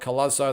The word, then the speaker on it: Collazo: In fairness, if sometimes your fighters are American-based like Collazo, they pronounce it as an L, not Y, since he was from New York City.